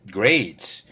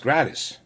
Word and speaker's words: Gradis: And by the way, Gradis is spelled grade with an S. So me, if I had never met this guy and walked up to him, I would have said grades. But he explained it's a Muslim name. and it's pronounced gratis.